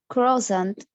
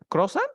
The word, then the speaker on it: croissant: Y quiero que lo pronuncies así, mira. Croix, y luego digas son.